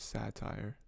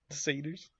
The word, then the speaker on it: seder: they're like playing together i always pronounced it satire seders yeah until i was older and i was like oh it's seder well you understand where